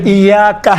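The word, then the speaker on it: إياك: ایاکا۔ اب یہاں پر ایاکا میں یہ کون سا حرکت ہے؟ چھوٹے حرکات ہیں یا بڑے حرکات میں سے ہیں؟ چھوٹا۔ آپ دیکھیں تلفظ کرتے وقت انشاءاللہ تعالیٰ یہ ملحوظ نظر رکھیں، ایاکا نعبد و ایاکا، کا نہیں ہے، کا نہیں ہے، ایاکا الگ ہے، آپ، نعبد ہم آپ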